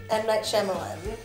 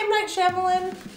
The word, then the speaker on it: Shyamalan: M. Night Shyamalan.